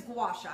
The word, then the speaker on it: gua sha: I mean, I hear some really crazy words, but the word is gua sha, and that's how you want to say it.